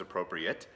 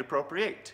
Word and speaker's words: Appropriate: is very interesting because it can be pronounced both as appropriate and appropriate and both would be correct for this particular world